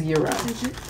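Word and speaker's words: Gyro: Town Euro Euro Euro it's not gyo it's Euro it's Euro g is silent that one and we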